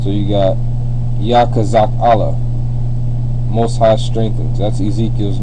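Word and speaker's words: יחזקאל: most high strengthens and you pronounce it Yak kazak Allah Yak kazak Allah all right so you got yah which is most High's name kazak means strength and Allah means uh Power all right or or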